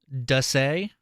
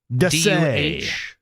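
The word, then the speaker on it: D'Ussé: Apparently, it is pronounced Dusay. Dusay. Thank you. Hyphen SAY. Dusay. That's how you pronounce it.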